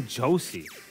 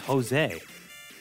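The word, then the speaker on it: José: a kid but I didn't really understand why his name was spelled with a J because I didn't really know for Spanish J was like why didn't I call Josie you know his name's Jose oh I guess thank you mr.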